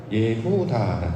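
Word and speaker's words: יהודה: 있을 것 같습니다 실제로이 우리가 유다라고 발음을 하는데 원문은 예후다 뜻입니다 앞에 있는 야 그니까 야 후다 요런 말이거든요 이걸 유다라고 이제 발음을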